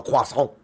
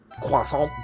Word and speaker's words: croissant: filled Quant and okay I love a quas that's how you say it in France quas but I've got so